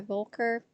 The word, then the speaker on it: Boelcker: The incoherent demodulation of SSB-LM has been studied by Volker and Hansen. Volker is spelled Boelcker.